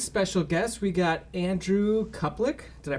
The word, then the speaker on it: Kuplic: and this week's special guest we got andrew cuplek did i pronounce that correct yes that is correct uh